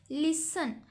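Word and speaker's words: listen: Next word हमारे पास लिसन। अब लिसन में हम लिसन। टी इसमें हम प्रोनाउंस नहीं कर रहे।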